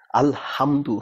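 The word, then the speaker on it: الحمد: যেমন আলহামদুলিল্লাহ রাব্বিল আলামিন, আলহামদু হা ছোট, ওই যে হা না, এটা হচ্ছে হা।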